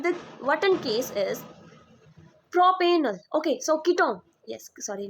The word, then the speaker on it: propenal: l e l l we will pronounce this pronounce it as not L it's right propenal propenal no no propenal right pentanol butanal okay